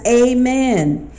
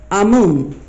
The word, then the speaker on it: Amun: name means hidden one it's pronounced as it appears on a screen not as Amen and normally but it's pronounced spelled and pronounced a moon it is believed by